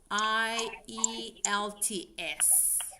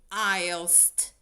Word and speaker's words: IELTS: Would really like to take the IELTS test. Yeah. Don't forget that last S. Seb, when you when you pronounce this, please say I Yes. Don't forget the last S.